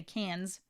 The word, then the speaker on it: Cannes: So where's the Cannes Film Festival being held this year?